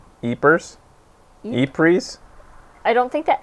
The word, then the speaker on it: Ypres: How do you pronounce it, guys? Good luck. That's Ypres.